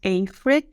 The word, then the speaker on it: Afry: Yes, Afry, or how we pronounce it in English, Afry, is probably not familiar to all of you.